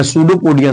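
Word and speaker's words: pseudopodia: सूडोपोडिया। सूडोपोडिया का मतलब समझते हो? पी साइलेंट है।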